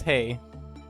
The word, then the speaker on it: HE: with the teddy bear it's not h e but pronounced like hey by the way like hey so this is that is not he this is hay so it's uh zayn